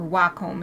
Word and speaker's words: Wacom: I use a Wacom tablet. Or Wacom is the official. Wacom tablet. That's the official pronunciation.